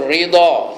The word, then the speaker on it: redha: Saya pun terus nak nyebut ridha, kena sebut redha juga lah.